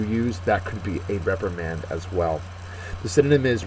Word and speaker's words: reprimand: is confirm next word reprimand uh that is again both a verb and a noun uh first syllable is accented the verb to scold